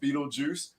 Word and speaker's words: Beetlejuice: for everybody knowing and when you read it it is pronounced Beetlejuice there is no reason